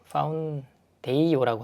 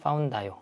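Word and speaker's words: Foundayo: 파운데이요라고 하기도 하고 그죠? 파운다이요 우리나라 말로는 파운다이요 이렇게 발음하겠습니다. 파운다이요가 출시가 됐고 실제로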